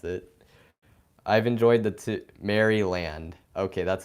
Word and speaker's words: Maryland: I just pronounce me how do you guys pronounce that marylande like that's how I yeah I pronounce that Maryland yep that's how I do it you know that's how I say it I mean I'm